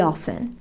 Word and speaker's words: often: He often. He often. He often feels very tired at the end of the day. قولوا معايا. طبعا the T in often صامتة. بعض الناس بينطقوها مفيش مشكلة.